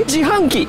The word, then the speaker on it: 自販機: You say Jihanki.